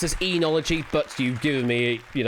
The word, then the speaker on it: oenology: Oenology. That is correct, yeah. I have it pronounced as enology, but you've given me, phonetically plausible with whatever's up there as well.